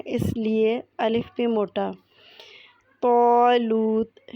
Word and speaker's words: طالوت: لیے الف بھی موٹا۔ طالوت، اس میں طا مفخم ہے، اس لیے الف بھی موٹا پڑھا جائے گا۔ جیسا کہ پہلے بتایا،